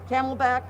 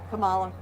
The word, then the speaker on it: Kamala: I don't think Biden's going to make the 4 years, and the Camelback, forget it. The Camelback, who's that? Kamala. Oh, wow. That both mispronounced the name and xenophobic.